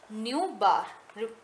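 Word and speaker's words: ν̄: कैसे प्रोनाउंस करते हैं आप इसको, न्यू, क्योंकि न्यू हम ऑलरेडी पढ़ चुके हैं फ्रिक्वेंसी में, और जो ऊपर हम हॉरिजॉन्टल लाइन लगा रहे हैं उसको हम क्या बोलते हैं, बार, तो न्यू बार।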